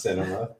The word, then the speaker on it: Sinema: Is it pronounced cinema? It is, yeah.